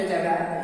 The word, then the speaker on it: hedge: और फिर HEDGE, तो यहाँ G के पहले डी है इसलिए डी साइलेंट हो जाएगा, इसका सही उच्चारण हो जाएगा हेज।